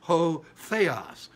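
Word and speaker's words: ὁ: the letter o uh we pronounce it as ho it's a rough breathing ho but the in the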